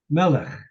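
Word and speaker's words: מלך: Melech. Melech. Put your accent on the first syllable.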